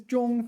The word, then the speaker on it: 中: This is a 多音字. So it may be pronounced 中. 美中不足. No, I do know this one. It is 中 first tone, within.